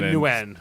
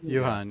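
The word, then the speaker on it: Nguyen: So, Newen, right, is how you say that. Yuan.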